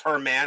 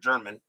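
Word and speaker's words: Germán: So Herman Gonzalez, I think it's Herman. I think it's pronounced that way here instead of German.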